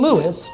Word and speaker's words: Lewes: name, and we've been Lewis, two syllables, ever since.